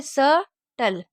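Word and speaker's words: subtle: ठीक है, इसको क्या पढ़ेंगे, स, टल, सटल, क्योंकि बी हमारा साइलेंट है।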